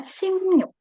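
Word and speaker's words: 십육: ynya jadi new BAC berarti angka 16 tulisannya Sibu Tapi bacanya simnyuk Oke simny ya itu 16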